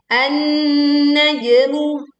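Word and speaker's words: النجم: Kemudian ayat ketiga an-najmu. Leburkan di sini alif lam ke nun bertasydid sehingga langsung menekan ke nun dan jangan lupa sempurnakan dengungnya karena di sini terdapat nun bertasydid. Najmu. Ada jim sukun, kita membacanya dengan memantulkan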